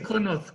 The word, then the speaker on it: Connaught: Connaught, c'est prononcé à l'anglais. Oui, c'est Connaught.